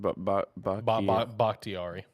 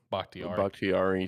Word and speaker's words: Bakhtiari: So I've got Lane Johnson 1, Ronnie Stanley 2, David, how do you pronounce it? Bakhtiari. Bakhtiari 3, Creed Humphrey 4, and then I've got um, Landon Dickerson number 5.